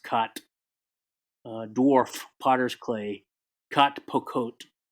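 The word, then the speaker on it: k'at: That's K apostrophe AT. I think that's pronounced cot.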